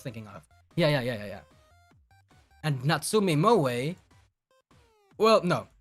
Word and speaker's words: Moe: Moemi and Yomeme. Those were the twins I was thinking of. Yeah. And Natsume Moe... Well, no. I call her a Natsume Moe, but it's Mo.